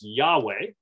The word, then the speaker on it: Yahweh: Divine name Yahweh or Jehovah however the J is pronounced like a y in ancient Hebrew so it is Yahweh so that is key